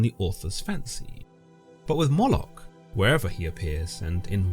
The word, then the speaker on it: Moloch: Moolok, sometimes pronounced as Molec, is a name that appears